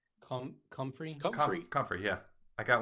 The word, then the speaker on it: comfrey: Hard C. Comfrey.